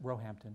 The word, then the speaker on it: Roehampton: in computer science at Stanford University and a diploma in calligraphy and bookbinding from the Roehampton, is that how you say it, David? It's at Roehampton.